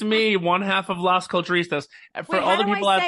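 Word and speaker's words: Las Culturistas: I can't say it how do you say it l it's lost cult you were doing amazing it's literally ladies and gentlemen it's Mr Matt Rogers yes it's me one half of lost culturistas for all the people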